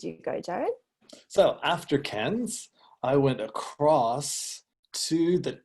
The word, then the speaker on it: Cairns: went up to this city up here called Cairns. Is that right? Oh, almost, Jared. We pronounce it Cairns. Cairns.